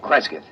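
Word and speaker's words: Cresgyth: as um well, I'll I'll spell it. It's c r e s g y t h, Creskyth.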